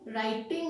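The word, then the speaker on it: writing: डब्ल्यू के बाद यदि आर आता है तो डब्ल्यू साइलेंट हो जाता है, आर से वर्ड शुरू होता है, राइट।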